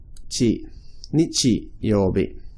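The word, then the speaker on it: 日曜日: So can you see here that this symbol here, Nichi and Bi, are the same symbol. They both mean sun or day. So, but they are pronounced differently in this, aren't they? So here's an example of where the same symbol is pronounced differently in the same word.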